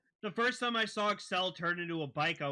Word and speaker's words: Accel: that axle but it's Excel it's a word excel for accelerate it's pronounced excel in the Japanese because that's just the way the language works but it is spelled